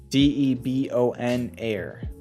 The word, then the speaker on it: debonair: one this is called d-e-b-o-n air deben air i don't know if i'm sorry for mispronouncing that it's called debonair debonair by limes and aimless